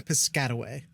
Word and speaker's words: Piscataway: only point that up because I like saying piscatway it's fun to say and I know how